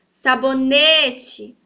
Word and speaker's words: sabonete: Sabonete. Sabonete. Viram que o ne está em evidência?